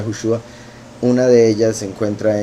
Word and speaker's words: Yahushua: Y lo digo, ¿verdad?, porque hay gente que pronuncia Yahusha. Curiosamente, ¿verdad?, como he dicho, hay varias revelaciones en la escritura que muestran que la pronunciación sería Yahushua.